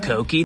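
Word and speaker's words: Kouki: Actually, it's pronounced Koki, not Kooky.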